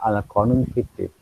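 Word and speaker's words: Al-Qanun fi al-Tibb: Tulisannya Al-Qanun fi Atik, tetapi membacanya Al-Qanun Fitik.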